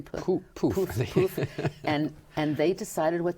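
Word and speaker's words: Plouffe: How do you pronounce his name? Poof.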